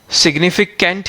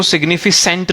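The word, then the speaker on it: significant: कोई वर्ड लिखा है let's say सिग्निफिकेंट, right, सिग्निफिकेंट he read कर रहे हो आप, उसको सिग्निफिसेंट रीड नहीं करना आपको. उसको सिग्निफिकेंट को अगर आप सिग्निफिसेंट रीड करोगे तो प्रोनाउंसिएशन पे लो स्कोर करोगे आप.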